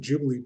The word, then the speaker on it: Ghibli: So accustomed to saying Ghibli, but I guess the correct pronunciation is Ghibli, from the Italian company that the name originally derived from.